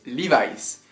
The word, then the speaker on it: Levi's: en effet la marque Levis par exemple donc si vous VZ aux États-Unis ne dites pas Levis si vous recherchez des lis la prononciation c'est livice moi quand j'arrive aux